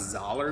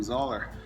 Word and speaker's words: Zoeller: You know what you're thinking, Tyler, it's not Zoeller, it's Zoeller. Well, I learned this past year it actually is pronounced Zoeller.